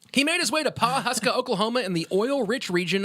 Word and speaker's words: Pawhuska: made his way to paw Paw's I can't pronounce this Pawhuska pa WH you ska Papa Oklahoma that's all